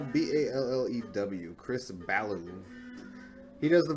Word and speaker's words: Ballew: Ballew? Is he French? No, Ballew.